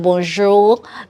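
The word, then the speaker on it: bonjour: that we know and everybody pronounces it like that bonu bonju bonju maybe the French person will actually put some accent to it and put some AR to eat like bonjo like the French people have a way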